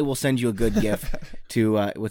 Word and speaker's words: GIF: pronounce it is like the creator of them said it's jiff but I refuse to say it that way yeah and like if